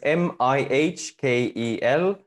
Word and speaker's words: Mihkel: Americanizing it as Michael. It's not. Is it Mihkel? Yeah. So it's Mihkel at digitalmerchant.ee, or you